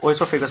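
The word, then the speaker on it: oesophagus: ओ ई एस ओ होता है। ठीक है? पी एच ए जी यू एस एसो ओसोफेगस बोलते हैं।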